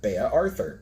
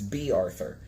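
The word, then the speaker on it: Bea Arthur: I always used to think that name was pronounced Baya as in like Baya Arthur but apparently Baya Arthur's name is not Baya Arthur it's B Arthur so I've been pronouncing it wrong for decades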